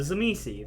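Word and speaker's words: Tzimisce: There's a type of vampire called the Zamisi. That is not the most correct pronunciation because it's a Polish word, and I do not speak Polish.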